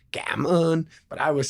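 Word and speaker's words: cảm ơn: just simply say thank you in the worst pronunciation possible. But I'm like, come on, come on. By the way, it's gammon.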